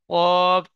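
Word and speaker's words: ق: কফ অক্ষরটি star চিহ্নওয়ালা অক্ষর উচ্চারণ করবার সময় ঠোঁট দুটি গোল আকৃতি হবে।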